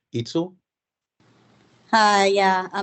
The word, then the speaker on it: Itzel: And next, do I pronounce this correctly? Itzel? Hi, yeah, my name is Itzel, and I'm calling because I think